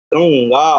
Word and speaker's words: गंगा: गंगा उच्चारण भी ध्यान रखिएगा, ज्ञा करना है, गंगा। कई लोग गंगा बोल देते हैं, है ना, वो अशुद्ध उच्चारण।